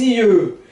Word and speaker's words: yeux: Ça coûte les yeux, porque aqui começa com o som de I, né? E esse Y, né? Eu não falo o X, eu vou falar I. Aquele E com boca de O, com queixo caído, assim, I.